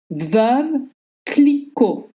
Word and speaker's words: Veuve Clicquot: Not Clicquot and not Veuve. Veuve Clicquot. Veuve means a widow. And you use the same E sound than in butter. Veuve. Veuve. Clicquot. You don't pronounce the T at the end.